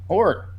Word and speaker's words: Jorge: Jorge? Baseball Reference pronunciation for Jorge is capital H-O-E-R for the whore part. Whore.